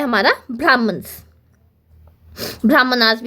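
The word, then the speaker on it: Brahmanas: जो वैदिक हाइम्स हैं उनका एक्सप्लेनेशन होता है हमारा ब्राह्मणस। ब्राह्मणाज़ [नाक से की जाने वाली आवाज़] भी इसे हम प्रोनाउंस कर सकते हैं।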